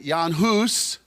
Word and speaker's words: Jan Hus: name is it says john huss the czechs call him yan huss that's how you pronounce it in their language and he was a